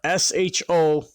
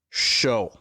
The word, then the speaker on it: SHO: from Ford's official website the sh o originally spoken as individual letters as of 2010 is pronounced show now that that's been